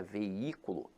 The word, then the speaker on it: veículo: esse jogo infelizmente agora a palavra veículo apesar de ter hiato veja que a sílaba tônica se encontra na antepenúltima sílaba então aqui ela é